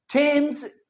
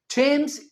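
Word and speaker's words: Thames: टेम्स England Hindi में हम कहेंगे England. But when it comes to English. यह क्या है? इंग्लैंड। थम्स इंग्लैंड में एक प्रसिद्ध नदी है। सो थेम्स नहीं टेम्स कहेंगे।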